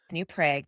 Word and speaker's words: New Prague: New Prague, because we're in Minnesota. My father was very much a New Prague, because that's how you say it in Czechoslovakia. Growing up in a small town was difficult.